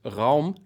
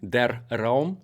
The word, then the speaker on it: Raum: And Raum, der Raum in German, because this is a German company and I do live in Germany, so this is the correct pronunciation.